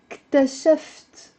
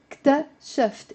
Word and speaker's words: اكتشفت: It's two syllables, but you can also pronounce it as three syllables. يعني I can say اكتشفت, or I can say اكتشفت. You can add a little it in the end to make it easier to pronounce, okay?